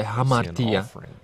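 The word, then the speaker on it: ἁμαρτία: Slovo hřích existuje v řečtině jako vyslovuje se hamartia, a můžeme ho přeložit jako hřích.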